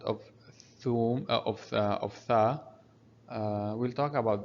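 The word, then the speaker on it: ثوم: Notice we have above Tha, we have here Dhamma, that's why we're having Thum. Again, the letter after Waw, after Tha, is called Waw. It will elongate the sound of Thum, of Tha.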